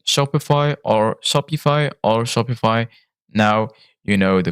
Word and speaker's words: Shopify: way to pronounce Shopify where the I is pronounced like the i in high so it's Shopify to make it even